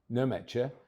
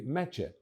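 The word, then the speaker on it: Nmecha: goal from the spot with family names starting with a silent N. So it's not Meta but simply Meta.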